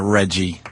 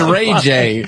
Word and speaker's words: Ray J: You call him Reggie. His name's Ray J.